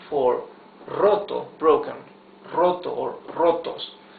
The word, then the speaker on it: roto: Roto or rotos H check out the pronunciation of the r the the r at the beginning of a word is the rough r right that is uh so difficult to pronounce in in in English so this is rotto here